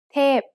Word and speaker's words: เทพ: เทพ is a falling tone.